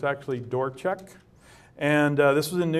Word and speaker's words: Dvorak: by uh Harold dorek and that's how you pronounce his name by the way it looks like Dvorak but it's actually dorek and this was in New England Journal of